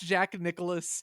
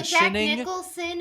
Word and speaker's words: Jack Nicholson: Let's go watch Jack Nicholas. Okay, so Jack Nicholson is correct. Jack Nicholson is the correct pronunciation of that man's name.